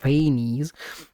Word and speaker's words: Phanes: Also, now we know for sure that Seelies gained power directly from Phanes, which apparently is pronounced Phanes, uh rather than from